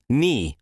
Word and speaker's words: knee: knee, knee, knee knee معنی ده زنګون. زنګون یا د زنګانه سترګې ته په انګلیش کې knee وای. دا کې په کې سایلنت ده، نه تلفظ کیږي.